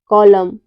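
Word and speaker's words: column: कब साइलेंट रहता है यदि किसी वर्ड में एम और एन दोनों साथ में आए तो एन हमेशा साइलेंट रहता है लेटर एम लेटर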